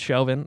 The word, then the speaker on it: Chauvin: __ ] chauvinist yeah I think it's Chauvin that's how you spell it exactly like chauvinism yeah so you know